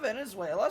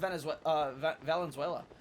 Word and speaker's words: Valenzuela: It's nice to see Cristina Venezuela start to get her, or Valenzuela, I'm sorry. Valenzuela, or is it No, it's Valenzuela. I believe it's pronounced Valenzuela.